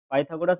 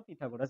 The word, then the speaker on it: পিথাগোরাস: আমরা পাইথাগোরাস বা পিথাগোরাস, যা খুশি তাই বলতে পারো তোমরা, কোনো অসুবিধা নেই।